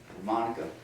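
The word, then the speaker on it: Moneka: Got to Monica, that's how we pronounce it.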